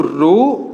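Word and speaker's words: rho: तो R क्या देखने को मिला, is equals to रो L/A। ये सिंबल को हम लोग प्रोनाउंसिएट क्या कहते हैं, रो, ठीक है।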